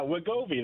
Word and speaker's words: Wegovy: weight loss drug called Wegovy and how it might have other benefits. What are we learning about this? And am I even pronouncing it right? Yeah, Wegovy, that's right.